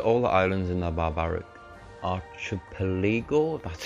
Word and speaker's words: Barbaric Archipelago: Visit all the islands in the Barbaric Archipelago. That's how you pronounce that.